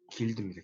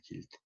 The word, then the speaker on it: guild: 그리고 다양한 직종의 시장 상공인과 길드, 영어로 이렇게 써요. GUILD. 길드입니다. 길드. 이때 U가 발음이 안 돼도 묵음이죠.